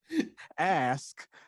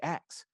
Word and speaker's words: ask: And so I always make sure I enunciate the word ask, and make sure so that people just don't assume I'm black over the phone.